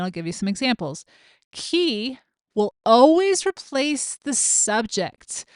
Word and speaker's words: qui: so key Qi is just like the key you would open a door with with key and that